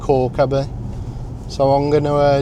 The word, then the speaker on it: Calke Abbey: So, today we're going to a place called Cababie. Um, it's actually spelled Calabi, but um I'm reliably informed that it's actually pronounced Cababie.